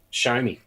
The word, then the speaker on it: Xiaomi: so I'm just said on Facebook that yeah show me and so what you just said shut all